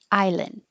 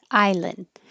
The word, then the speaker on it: island: Island. So you won't hear the D. Your tongue will go to the N position, which is the same as the D position, and then just hold the air.